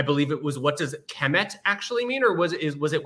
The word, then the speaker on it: km: So when we're saying kem, we're assuming a kind of short E between the K and the M, but really what we just have is K and M, but we pronounce it as kem for convenience sake.